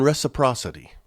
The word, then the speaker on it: reciprocity: It's a built-in reciprocity. Four syllables. Reciprocity.